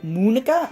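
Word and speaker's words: Monika: it oh well yeah that's not how you say my name at all um Monica not Mon at the time so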